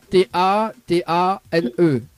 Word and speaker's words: Tatane: Tatane. T-A-T-A-N-E. Tatane, comme ça s'écrit.